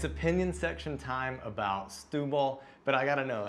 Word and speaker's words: Setúbal: but i gotta know how many times did we make the mistake between set the wall and stewball a bunch like way too many even though we know how it should be said we were taught how it said still the way it looks it's a tough one it is a tough